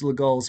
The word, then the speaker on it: Legall: sure, but this was Legall. If you want to pronounce it legal, I suppose that's okay.